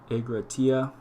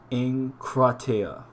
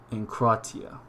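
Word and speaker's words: ἐγκράτεια: Egratia. Pronounced with the N. Pardon my Greek. It's not so powerful. Enkratia. Enkratia.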